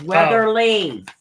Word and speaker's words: Weatherly: out I hope re put weather Reese it's Weatherly oh Weatherly oh okay yeah how do spell that w a t h r l y